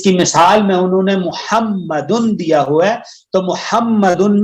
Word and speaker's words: محمد: تو اس کا مطلب ہے ہم میم کو 2 دفعہ پڑھیں گے. اسی لیے ہم جب محمد کے سپیلنگ بھی کرتے ہیں ہم کیا کرتے ہیں؟